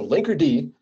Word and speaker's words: Linkerd: Okay, so Linkerd, most important thing is you have to pronounce it with the D because that's separate.